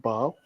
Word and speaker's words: Basel: But it is, although it said Basel, it's pronounced Basel.